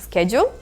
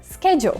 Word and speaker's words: schedule: То есть первые два звука, да, это буквосочетание S-C-H, читается как sk, schedule. В то время как британцы также используют слово schedule, но только его произношение будет совсем другим. И это будет schedule.